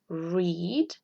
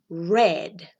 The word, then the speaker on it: read: Entonces sería write, wrote, read, read. Fíjense muy bien porque esta palabra cambia solamente cómo se lee, no cambia cómo se escribe. Read, red, como el color rojo, red. Se pronuncia igual.